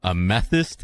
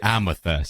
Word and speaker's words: amethyst: I'm pretty sure it's pronounced amethyst, but for some reason I always say amethyst.